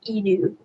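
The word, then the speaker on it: 犬: But when you pronounce it, it's pronounced inu, which is the Japanese word for dog.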